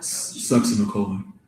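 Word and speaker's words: succinylcholine: And how do you pronounce that again? Sucks in a colon.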